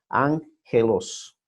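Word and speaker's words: ἄγγελος: es la ghetto y cuando están dos juntas dos gamas juntas se pronuncia ng ángelos y eso fue interesante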